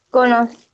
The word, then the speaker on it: conoscerti: È un piacere conoscerti. Say that the last word again. Conoscerti. Conoscerti. Yes. Conoscerti. Conoscerti. Mm-hmm. Yes. So the syllable stress here is on the syllable no.